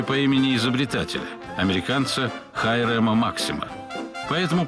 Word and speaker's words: Максим: имени изобретателя американцы хайрема максима поэтому правильнее произносить максим они максим хотя максим для многих привычно на этих уникальных кадрах